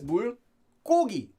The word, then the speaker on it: 물고기: Remember, this is pronounced as 물고기. 고, as if it had two.